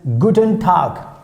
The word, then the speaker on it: guten Tag: word which comes into mind and that is guten tag guten tag guten tag guten tag that's how you have to pronounce that means hi hello good day good